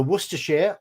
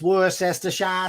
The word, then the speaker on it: Worcestershire: take and you need you need me to pronounce Worcestershire it's either Worcestershire or Worcestershire so repeat after me Worcestershire very